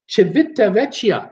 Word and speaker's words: Civitavecchia: Soviet but if this if the C is pronounced with a cha or like a CH sound then its Civitavecchia I I look at